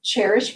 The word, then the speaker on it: Chairish: Cherish is a little more expensive, but if you're looking for a really special piece, it sounds like Cherish, but it's spelled like chair, CHAIRISH, and they have some really nice stuff.